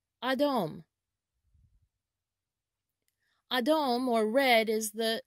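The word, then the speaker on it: אדום: colors is in hebrew the color red is pronounced adom adom adam or red is the zeva or color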